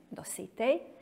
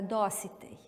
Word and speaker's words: Dositej: I pravilno naglašavanje po pravilima akcentuacije srpskog jezika bi bilo da se njegovo ime izgovara Dositej. Međutim, u kraju iz kojeg on potiče, svi su ga zvali Dositej i on je u narodu poznat kao Dositej, pa i mi na taj način akcentujemo njegovo ime.